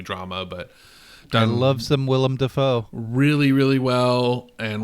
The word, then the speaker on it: Willem Dafoe: but i love some willem dafoe really really well and william defoe i always call him william willem but i mean we